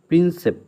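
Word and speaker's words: Prinsep: এক্ষেত্রে মনে রাখা উচিত ভারতের একজন মহান সম্রাট হলো সম্রাট অশোক, যার শিলালিপি পাঠোদ্ধার করেছিলেন জেমস প্রিন্সেপ, লাস্টে প আছে, ঠিক আছে, প্রিন্সেপ।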